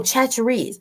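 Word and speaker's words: Chachere's: Tony, and is it pronounced Chatchers? Yes. But there's an Tony, E. Tony Chatcheries. Oh, Chatcheries.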